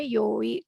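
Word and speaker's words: 良い: Sebetulnya yang i ini kalau ada kanjinya itu dibacanya yoi, tapi biasanya juga ini dibaca i.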